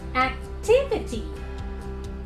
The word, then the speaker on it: activity: right hand side but however here the third syllable from the right will be turmoil strongly or is stressed so we need to tell activity activity again here see this if